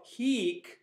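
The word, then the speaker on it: hīc: So heek, pronounced that way, means here.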